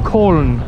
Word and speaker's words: Köln: Cologne at the moment, or Köln, I think is how you're meant to pronounce it if you're a German person.